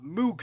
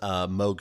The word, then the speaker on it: Moog: most recent installment of Moog fest you know that big Electronic Music Festival actually actually is pronounced mogh fest huh alright that lets them